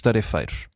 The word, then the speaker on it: tarefeiros: E a e a Vanessa pergunta se não deveríamos dizer tarifeiros, tendo em conta que a sílaba tónica é o fei e não eh e não aquela a sílaba anterior.